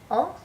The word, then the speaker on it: on: us or we, and it's actually spelled on, like on top of something in English, but again in French it's pronounced on, and it means us,